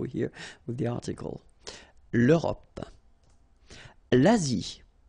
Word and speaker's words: Asie: L'Asie. Same thing here. Final is not pronounced.